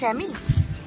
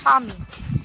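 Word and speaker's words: Sámi: তন্তুলা ভিলেজে এর আসছে একজন, এটা কি স্যামি? এখানে যে ট্রাইব নয় ঠিক, এখানে স্যামিদের বসবাস। স্যামি মানে নর্দার্ন ল্যাপল্যান্ডে যে জাতিটা থাকে তাদেরকে স্যামি বলা হয়। অ্যাকচুয়ালি সামি, মানে ইংলিশটা উচ্চারণ করে সামি।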